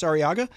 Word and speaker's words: Arriaga: We got Lindsay Horton and Travis Arriaga from Coastal Bend Distilling down in Beeville.